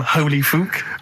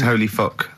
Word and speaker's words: Holy Fuck: Please, can we have more Holy Fook? You're not pronouncing it right, Steve. I know. I was just a bit edgy there. It's Holy Fuck, the little Chinese fella.